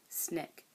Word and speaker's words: SNCC: Student Nonviolent Coordinating Committee, SNCC, pronounced SNCC.